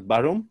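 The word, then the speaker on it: Bærum: I think the club that you played for before the ADT, is that pronounced as Barum? Did I get that right? Yeah, that's correct.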